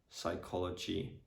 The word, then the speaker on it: psychology: So for example, in the words pseudonym, pneumonia, psychology, psychiatrist, pterodactyl, pterodactyl, pterozool, pterozool.